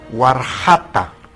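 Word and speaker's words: warxata: Aquí tenemos una comida típica, se llama warjata. Cuando la X pasa la aymara suena como ja, warjata. Sonido particular es ja, ja, ja de warjata.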